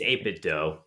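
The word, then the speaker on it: 8BitDo: he uses an 8-bit what is 8-bit doe or 8-bit do I think it's 8-bit doe okay this is technically how it's said and he uses turbo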